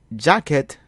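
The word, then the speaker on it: djakèt: The Creole digraph DJ has the same pronunciation as the letter J in English. It sounds like J in juice.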